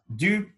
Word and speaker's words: du: Attention à la prononciation euh, de la syllabe du, la voyelle U. Dans la dernière vidéo, je vous ai expliqué que le son U se prononce en faisant la bouche comme un OU, mais on va prononcer un I.